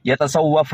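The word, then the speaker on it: يتصوف: എന്തിനാ യതസവ്വഫ് എന്നാണ്, യസ്സഫ് എന്നല്ല, യസ്സഫ് എന്നല്ല.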